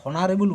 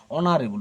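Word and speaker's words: honorable: কেন বলো তো, এইচটা কিন্তু আমরা হনারেবল বলছি না, হ দিয়ে উচ্চারণ হচ্ছে না, কি বলছি, অনারেবল।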